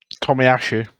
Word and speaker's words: Tomiyasu: How do you pronounce his name? Tomiyasu.